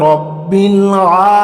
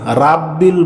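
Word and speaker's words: ربِّ: ঠিক আছে আলহামদু আলহামদুলিল্লাহি রব্বিল আলামিন। আলহামদুলিল্লাহি রব্বিল আলামিন। আলহামদুলিল্লাহি রব্বিল। রাব্বিল বলবেন না। রব্বিল। ঠিক আছে।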